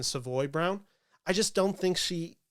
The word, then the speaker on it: Savoy Brown: I just don't think Jasmine Savory uh round sorry I keep mispronouncing that name it's Jasmine Savoy Brown I just don't think